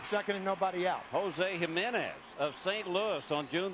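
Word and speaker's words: Jiménez: Jose Jimenez of St. Louis on June the 25th against the Arizona Diamondbacks. Jose Jimenez. JJ nor HH. J of course pronounced as an H in in espanol.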